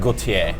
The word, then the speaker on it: Gautier: Yeah, so it should be like Gautier. Yeah. I think is the original French pronunciation.